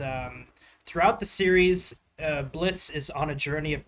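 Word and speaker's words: Blitzø: Now, this character is the main protagonist of Hell the Boss, Blitz. Uh, he actually has the letter O on his name, but the O is silent.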